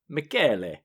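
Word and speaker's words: Michele: But she provided a clip to the Italian pronunciation of what looks like the spelling of Michelle. Michelle, yeah. And it's pronounced Mackelly.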